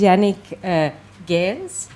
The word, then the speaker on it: Yannick Geens: This is Yannick Geens. This is how you pronounce it.